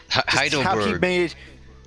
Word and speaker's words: Heidelberg: Heideruberugu. I don't know why that's confusing to me. Heidelberg. Well, each of those letters is basically a syllable, and how he just thoroughly pronounces each one is just charming to me.